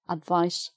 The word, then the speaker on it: advice: this as an adjective advice session so that's an s sound advice spelt with a c but s sound